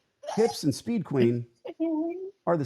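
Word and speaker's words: Huebsch: is spelled h-u-i-b-s and nobody knows how to pronounce it it's like a woman's hips is the way I say it hips and Speed Queen are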